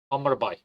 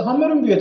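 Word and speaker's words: Hammarby: Hammer Hammer Bay. Ben buna Hammer Bay derdim. Hiçb öyle hammer ama ya. Y ü diye okunuyor şeyde Danimarka'da. Muhtemelen İsveç'te de aynıdır. Aynen öyle. eee işte Hammarbü'ye transfer oluyor burada.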